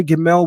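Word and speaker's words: גימל: And the understanding is that in ancient times, the letter Gimmel was pronounced 2 ways. The hard pronunciation is the G, the G, right? Like as in great. The soft pronunciation is the J.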